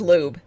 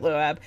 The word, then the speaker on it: Loab: entity, the loab, conjuring loab, but, um, It's pronounced lube.